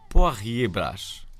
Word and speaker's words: Poirier Brás: Na verdade, trata-se de Poirier Brás. Assim é que é. Boa pronúncia.